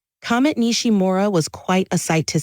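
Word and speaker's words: Nishimura: you pronounce that for us please sure it's pronounced nishima Comet nishim MOA was quite a sight to see it's always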